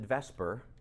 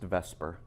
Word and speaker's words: VSEPR: and we pronounce it Vesper but the acronym VSEPR stand for correct valence shell electron pair repulsion so it's VSEPR but it's pronounced Vesper because we do better with the vowel in that place alright so we're going